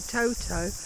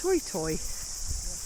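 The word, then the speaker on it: toetoe: And they are called toy toy here in New Zealand. It's spelled to o e to o e. So we would say toto, but they're pronounced toy toy.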